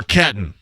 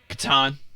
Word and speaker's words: Catan: JMV, I know they play Settlers of Catan or Catton? Catan. Catan?